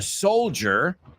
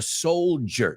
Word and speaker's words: soldier: And he put the soldier... Y vamos a pronunciar esa palabra, por favor. The soldier. Ja. Es como una J, J-C-H, ¿no? Soldier, ja. It's not ch, it's ja. Similar to TH, para vosotros.